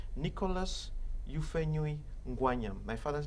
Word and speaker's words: Ngwanyam: Ngwanyam is in reality, it should be pronounced Ngwanyam, the one who shares the meat.